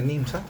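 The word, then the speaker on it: NJMZ: Bueno, Nimsa se escribe n eh Jés, a pesar de que se pronuncia Nimsa, perdón.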